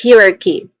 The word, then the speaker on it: hierarchy: So that's hierarchy again hierarchy pronunciation is on um second syllable.